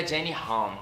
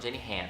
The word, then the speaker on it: Jenny Han: para todos os garotos que já amei da Jenny H, já pesquisei como é que pronuncia e é Jenny H, não, Jenny Han.